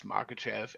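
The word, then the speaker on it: Makhachev: you something about him that might change your pronunciation, but go ahead. Uh, yeah, I know how to say it. It's Makachev and I think he dethrones him.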